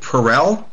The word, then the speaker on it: Perel: of the things that did you say you pronounce your last name Perell yes Ester perel okay I'm sorry Ester Perell